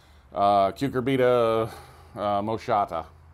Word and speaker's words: Cucurbita moschata: One of the issues I wanted to make was that these are, and this incidentally is the Cucurbita moschata, I believe is how it's pronounced, butternut squash.